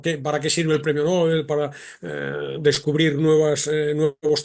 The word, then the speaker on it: Nobel: creo que el nombre el modo correcto de pronunciar el premio es Nobel eh No tendemos a llamarle Nobel a alguien que debuta que es novato que tiene poca experiencia mientras que al premio le reservamos la pronunciación como Nobel creo que es